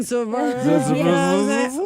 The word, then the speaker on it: Zarur: Zarur. There we go. How would you spell it?